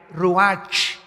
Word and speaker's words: ruach: El ruach, que se escribe R-U-A-C-H, ruach en el hebreo, y se pronuncia igual, ruach.